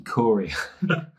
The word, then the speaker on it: Corio: Is that how you pronounce the name? Frankie Corio.